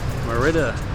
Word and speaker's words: Mérida: become the monitor Mara Mara does how it's pronounced meridah meridah meridah meridah meridah